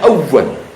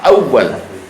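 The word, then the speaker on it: أوّل: Bacanya awwal. Nah, jangan awal doang, awwal. Ada tasdid.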